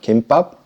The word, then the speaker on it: gimbap: k M Bap kimab but in Korean it's really pronounced kimab so it's closer to G so I would go